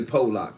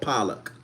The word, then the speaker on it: Pollock: Pa, the town is called Pollock. But say Pock. Okay, so for those who want to be politically correct, I'mma say Pock, but the town is called Pollock.